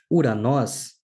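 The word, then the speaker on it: οὐρανός: A terceira palavra, uranós, começa por ditongo. Veja, nós já falamos sobre isso no vídeo anterior, que este ditongo em particular se pronuncia como U e não OU.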